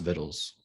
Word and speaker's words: victuals: But it's spelled victuals. Kind of like, I was gonna say like rituals, but it's not really the same. But it looks like victuals. Is it a Latin word though? Is it a Latin word? Probably, I would assume. Seems like it. I don't know. Yeah, but it's pronounced vittles.